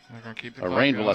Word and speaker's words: Rainville: four yards maybe five rainville not call him fville rainville rainville or well he pronounces it better than I do rainville I wish they